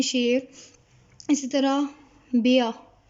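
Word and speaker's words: Bär: इसी तरह बेया, जैसे इंग्लिश में भी पढ़ते हुए बियर को पूरा जो है वो प्रोनाउंस नहीं किया जाता, आर को साइलेंट रखा जाएगा, तो बेया, बेया।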